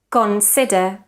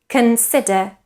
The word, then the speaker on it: consider: schwa actor famous focus consider so we shouldn't say actor famous consider and focus so again we should produce a schwa in the unstressed syllables again actor famous consider focus the shin endings